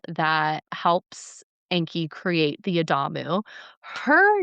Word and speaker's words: Adamu: And so, they create what's called the Adamu. Okay? Sounds like Adam. Yes, it does. It's spelled almost the same way except there's a U on the end.